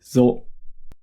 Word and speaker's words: ぞ: So with the dakten is pronounced zo.